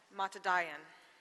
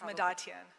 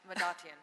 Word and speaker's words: Madatian: of contract administration matadayan did i pronounce that correctly it's madatyan madatian thank you thank you good